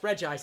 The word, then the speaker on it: Regice: it should be pronounced Regice because it's 1 eye. And I say, it's stupid to pronounce it Regice because every other one is Reggie, and then the element it's based on.